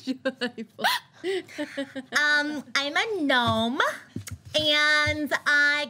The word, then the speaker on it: Joybull: My name is Joyble, and I got my name because people said I was cute like a Joyble, so that's my name. It's spelled J-O-Y-B-U-L-L. It's Joyble.